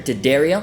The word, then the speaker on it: D'Addario: to give a shout out to today's sponsor daddario they say it right this time really hope